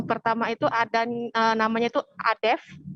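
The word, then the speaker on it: Adefz: Yang pertama itu ada namanya itu Adef, biasa dipanggil Adef, atau Adeps. Jadi ejaannya itu A, D, E, F, dan Z. Gitu. Atau Adef saja, Z-nya tidak dipakai. Seperti itu, Nila.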